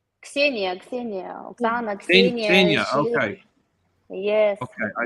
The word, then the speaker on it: Ksenia: Is it Luxenia? Ksenia, Oksana, Ksenia. Ksenia. Okay. Yes, Okay, I think Mother let me Ksenia.